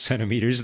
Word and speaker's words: centimeters: industry talking to medical professionals and talking about sonameters when they very well knew that you could pronounce it centimeters and not only that it is pronounced centimeters, that is just how you do it in English.